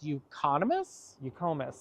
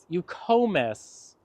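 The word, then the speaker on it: Eucomis: And these dark foliage sticking out of the ground is, I always say it wrong. It's euconomus? Eucomus.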